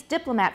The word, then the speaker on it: diplomat: of words um so we have the stress on the first syllable and all of these diplomat photograph monotone but look at the